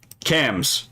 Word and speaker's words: CAMHS: Hold on, is this pronounced? Hold on. CAMS. Okay. Okay, so it's CAMS. Hospital staff across several regions discharged children after wait, no, hold on, I'm right here.